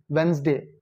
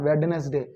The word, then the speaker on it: Wednesday: on Wednesday wday Wednesday Wednesday the pronunciation of this word is Wednesday not wednessday Etc next examples I'm